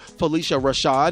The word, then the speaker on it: Phylicia Rashad: Bill Cosby Show like phylicia rashad I know I said her name wrong in the past but Felicia Rashad and and and um